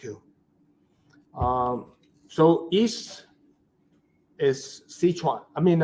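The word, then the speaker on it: Szechuan: in the west uh sichan is hard to pronounce it s z e c H UA an sichan sichan when you hear the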